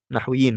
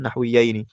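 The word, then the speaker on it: نحويين: Nahwiin bukan nahwiyini. Karena kalau nahwiyin berarti bermakna dua dua ulama nahwu misalnya.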